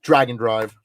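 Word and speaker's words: Drag x Drive: Even though it's spelled Drag Cross Drive, it is pronounced Dragon Drive.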